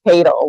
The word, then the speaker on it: Tatel: So you've already heard about Judge Tatel, and yes, it's pronounced Tatel. We've heard a lot of different pronunciations.